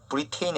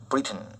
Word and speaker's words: Britain: 브리턴 영국을 뜻하는데 발음에 주의해죠. 브리테인이 아니고 브리튼 이렇게 발음합니다. and 그리고 코디아 asked her